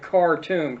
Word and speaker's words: Khartoum: 3 no's of Khartoum, not cartoon, but Khartoum, K-H-Toum, okay, Khartoum, that almost all Arab